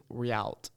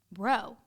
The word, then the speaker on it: Rheault: I always thought it was Rialt. Oh. That sounds really bad. I'm so sorry. No, it's okay. I do forgive you. But for everyone who doesn't know how my name is spelled, it's Rheault. Rowe. Everything's silent.